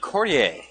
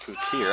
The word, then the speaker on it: Courtier: Isaac Courtier going to go to the free throw line. He's fouled, number 1. The 6'2 senior head of the stripe. It's pronounced Coutier, I'm sorry.